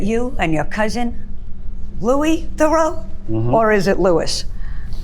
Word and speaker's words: Theroux: We pronounce it Theroux because in the Washington, D.C. public school system, they would call me Theroux, or they would never say Theroux. So we just simplified it to Theroux.